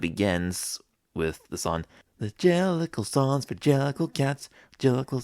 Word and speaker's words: Jellicle: Jellicle? Is that like jelly something, like Jellicol? The Jellicol ball? Jellicle ball? Yeah, I think it's Jellicle.